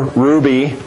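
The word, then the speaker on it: Hruby: Gene points out that the person in the Iowa DNR that makes that determination is Claire Ruby, and Ruby is spelled H-R-U-B-Y.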